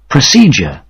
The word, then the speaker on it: procedure: এবার আমি শব্দটির উচ্চারণ আপনাদের দেখাচ্ছি। PROCEDURE।